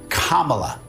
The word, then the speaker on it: Kamala: years you're a white woman disres Harris it's Kamala yeah the sense would be the setting would